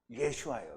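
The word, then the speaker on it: ישוע: 하면 자세하고 그다음에 그거를 합쳐서 히브리 식으로 발음을 하면 예슈아 예슈아 그래서이 예슈아를 헬라어가 읽을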